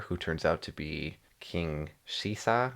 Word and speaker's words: King Caesar: Is that how you say it? Yeah. That's not how it's spelled. Uh that's not how they spell it in English because they're going off the English dub basically.